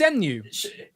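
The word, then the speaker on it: Xemnu: and put zem uh the x is a z can you guess when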